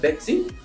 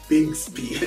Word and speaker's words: Bixby: We call it Bexy? Bixby. Bixby. God, my word. Bixby. That's what it has to pronounce.